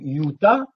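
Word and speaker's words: Utah: cet endroit déjà Uta donc Uta prononcez-le Uta Uta Uta Yuda vous voyez pas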